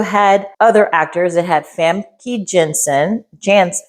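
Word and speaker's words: Famke Janssen: this movie also had other actors it had famy Jensen Jans famy Jansen can you pronounce her name Kim famy Jan I'll stop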